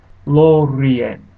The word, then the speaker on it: Lorien: Syllables are determined by vowels or diphthongs, one vowel or diphthong per a syllable. So syllable boundaries are always shown by periods. Some examples are Lorien. You notice that the I and the E are in separate syllables.